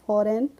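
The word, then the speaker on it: foreign: ई आई जी एन तो फॉरेन में हम जी को पढ़ते हैं नहीं पढ़ते हैं फॉरेन नहीं पढ़ते हैं हम इसको पढ़ते हैं फॉरेन फॉरेन मींस होता है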